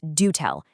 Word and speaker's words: DoTell: It's do tell, as in helping organizations listen more intelligently to what members and attendees are actually telling them.